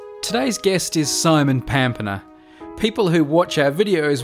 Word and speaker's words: Pampena: it's actually pronounced yeah i grew up thinking that it was pampina because that's the australian english pronunciation yeah but it's actually pampana or in italian pompano so it's from italy